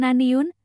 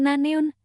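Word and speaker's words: 나는: Bukan Naniun, tapi Naneun, katanya sambil tersenyum.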